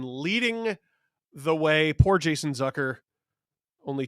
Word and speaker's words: Zucker: Jason Zucker. Rhymes with pucker.